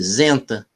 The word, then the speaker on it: Senta: O nome é engraçado, porque no alemão original é com S, seria Senta mesmo, S-A-N-T-A, mas pronuncia-se com o som de Z, Zenta.